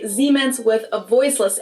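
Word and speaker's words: Siemens: Germans pronounce it with a voiced S, which would be a Z in English. Okay. Zmens. While English speakers pronounce it with a voiceless S. Seemens.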